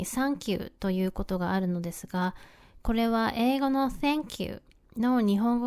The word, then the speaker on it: サンキュー: Here, the "tha" part becomes "サ." "Sank you," or rather "あなたを沈めた," is not what we mean when we say "サンキュー" in Japan. So, don't be surprised when you hear "サンキュー" here!